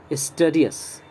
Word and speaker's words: studious: And it is not studious. It is studious. Okay? स्टूडियस या स्टूडियस, स्टूडियस, स्टूडस, स्टूडस जो मैंने बोला, डस बोलेंगे तो रॉन्ग हो जाएगा, डी के बाद आई है यानी ई साउंड आना चाहिए।